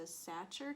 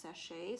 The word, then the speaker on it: Sacher: said it was a satcher cake but my inner great british bake off is telling me that it's pronounced sachet so that's where i'm